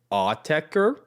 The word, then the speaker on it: Autechre: I believe they pronounce it Autechre. Sure. They also apparently said that it's pronounced however you want to pronounce it.